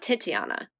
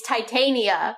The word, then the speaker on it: Titania: who plays Jennifer not titiana oh no it's titiana no it's Titania oh my God it's totally wrong it's Titania I forgot we that was